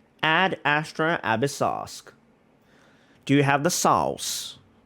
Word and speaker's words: Ad Astra Abyssosque: Oh, that's how it's pronounced. Ad Astra Abyssosque.